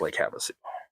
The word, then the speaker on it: Havasu: Anyway, and they pronounced it Lake Havasu, and I'm like, meh, okay, you didn't ask anybody at all, because everybody knows it's Lake Havasu.